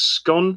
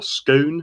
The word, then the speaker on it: scone: castle near perth is scone or scone whatever you want is that the castle